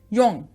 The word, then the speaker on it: Jung: अच्छा, याद कर लो, JUNG, योंग। बहुत से जाहिल इसे जंग पढ़ते हैं और कुछ जोंग।